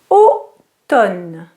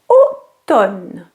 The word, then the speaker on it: automne: Automne. The M is not pronounced. It's not autumn, it's automne.